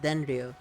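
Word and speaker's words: デンリュウ: It's pronounced Denryu, literally translated to electric dragon.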